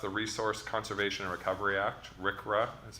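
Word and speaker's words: RCRA: federal government passed the resource conservation Recovery Act Rick ruff that's how we pronounce that which set out national goals for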